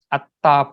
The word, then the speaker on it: attha: Purisa Yugani, Atta, the A-T-T-H-A, A-T and At, and then T-H-A is Ta. Atta Purisa Pukkala.